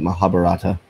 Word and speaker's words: Mahabharata: I believe that's how you pronounce it, Mahabharata.